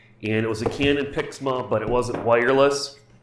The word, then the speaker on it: PIXMA: look at the canon pixma i do believe is how to pronounced p IX ma TS three one two